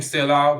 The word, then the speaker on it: Scylla: so fun fact uh the name Sila was chosen to remind people of scale uh but then we learn how it's pronounced so that didn't work as plann um so what are